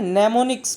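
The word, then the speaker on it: mnemonics: ओर नेमस call निमोनिक्स यहां पर देखो एंड साइलेंट होता है इसको मैंने इस नहीं पड़ता है निमोनिक्स पड़ते हैं नमो निसन इंसटिड आफ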